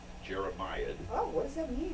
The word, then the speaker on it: jeremiad: a d on the end how do you spell that j r e m i a d jeremiad oh what does that mean is our word